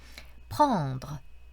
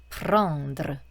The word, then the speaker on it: pendre: 하지만 조금 유의했으면 좋겠다 하는 부분들은 그 아래 발음 같은 것들인데요. pendre, pendre.